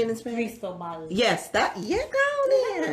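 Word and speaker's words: Cristóbal: Cristobal.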